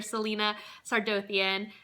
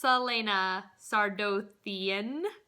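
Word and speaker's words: Celaena Sardothien: And the first book, Throne of Glass, follows our main character, Selena Sardian, which apparently I've been saying all of these names so incredibly wrong.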